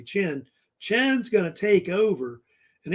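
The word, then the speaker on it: Qin: I guess right here called Ken or Chen really Chen they say it actually Chen Chen's gonna take over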